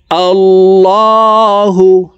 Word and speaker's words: الله: তো এখানে দেখুন আল্লাহ শব্দের আগের হরফে জবর থাকার কারণে এই লামকে ল অর্থাৎ মোটা করে পড়ব। তো দেখুন শব্দটি এইভাবে পড়ব আল্লাহু।